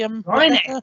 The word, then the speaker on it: wryneck: Yeah, lots of red kites, peregrines, and is how you say a wryneck? Is that right? The wryneck.